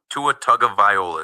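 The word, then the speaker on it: Tagovailoa: Tua Tuga Viola is how you pronounce his name.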